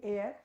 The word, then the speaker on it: Eyre: So the option we have, that is Charlotte Burnett, the very famous writer of Jane Eyre. And what is the pronunciation of A-Y-R-E-Y-R-E? The pronunciation is A-I-R.